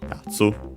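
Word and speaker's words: やつ: The accent is on the first syllable, okay, yatsu, I remember correctly.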